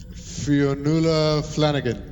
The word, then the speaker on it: Fionnuala Flanagan: Fionnuala Flanagan.